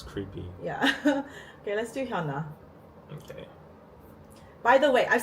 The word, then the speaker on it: HyunA: Guys, as Korean people, her name is Hyuna. Get used to it. Not Hyuna, Hyuna. I want to correct them when they say it like this.